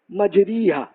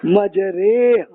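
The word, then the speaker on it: مَجْرٰىهَا: You will, I am sure, you will speak in this way, majriha. But this is an exception. This will be majreha, like this. So this word, majreha, this will be pronounced in that way.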